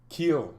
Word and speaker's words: Kiel: julia summer now that cow is the cow kill oh that's how you say their name yes